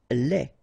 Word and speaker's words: lait: Lait. Un lait. Okay, so the only difference is the final thing here, D, you don't pronounce it, T, you don't pronounce it, so phonetically you only have this lait.